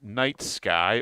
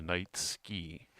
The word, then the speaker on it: Night Sky: Oh, and now we are going to go to the Night Sky, or as Henny and Joe like to call it, and I'm never going to let this down, the Night Ski. the Night Ski. The incorrect pronunciation.